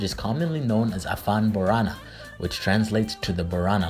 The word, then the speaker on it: Borana: in Ethiopia and Kenya borana is pronounced Boron with the final vow being silent and refers to the